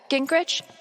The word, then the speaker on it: Gingrich: Gingrich? Is that how you say it? Yeah, that's right.